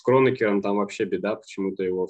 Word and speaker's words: Кронекер: Ну вот, я вам просто говорю, что человека звали Кронекер, поэтому странно называть его Кронекер.